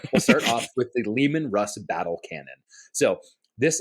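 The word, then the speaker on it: Leman: everyone's allowed one but you can only say lemon Russ once so you after that you have to say Lehman because that's how it's pronounced so I prefer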